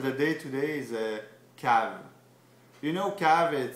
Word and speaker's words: cave: to become so where c-a-v-e cav it's like k but you spell it cav try it cav cav